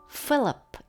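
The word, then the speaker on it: Philip: 그리고 제임스, 존, 앤드류, 필립, 여기서는 F 발음입니다.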